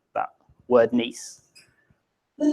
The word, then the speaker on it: Nice: So Hugh is absolutely fine pronouncing that word Nice. The Nice Jazz Festival.